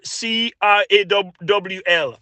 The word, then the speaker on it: Kroll: I see the name sounds, although it's spelled Kroll, but it is really synonymous with Crawl.